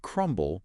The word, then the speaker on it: crumble: But then you have the word crumble and the B is pronounced.